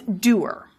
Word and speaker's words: dour: with the pronunciation of the word spelled D-O-U-R, which many people want to sound like sour, and we say dour. prescriptive guides will say, no, it's doer.